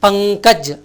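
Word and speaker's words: पंकज: இந்த ஞானாவை அங்கே இங்குன்னு உச்சரிக்கணும், பங்கஜ்.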